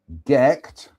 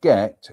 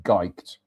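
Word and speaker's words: Gight: Gecht Castle, pronounced Gecht. Gecht Castle is so I will explain. Gecht is spelt G-I-G-H-T, so you could say Geicht, but no, it's Gecht.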